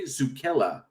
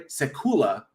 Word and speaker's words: Sekula: course uh directed by andre zukela no sorry i mispronounced that andre sekula my bad story by